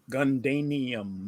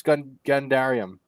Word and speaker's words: Gundarium: you're saying dairy gundarium gundanium that's the strongest milkshake ever made there's an r in there there's an r in there it's gundarium god damn it i